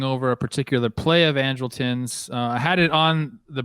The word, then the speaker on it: Andrelton: Andrelton.